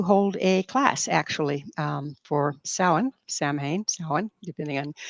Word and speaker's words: Samhain: I'm also about to hold a class, actually, for Samhain, depending on how you want to say it. It's spelled Samhain. It's Halloween. pronounced Samhain, yeah, for Halloween.